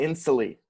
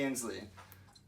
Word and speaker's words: Inslee: Governor Jay Inslee from Washington. That is correct, minus your mispronunciation. It's Jay Inslee.